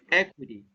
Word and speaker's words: equity: the pronunciation equity okay equity and you have the stress on the first syllable okay the meaning is